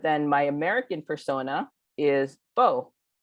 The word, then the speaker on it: Bo: And I'm like, it's Bo, as in Bo Derek and Bo Jackson. like youth, and like Robert E.